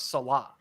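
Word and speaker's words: Saleh: Most people say Salah. I say Salah just because most people say it, but the correct pronunciation is Robert Salah.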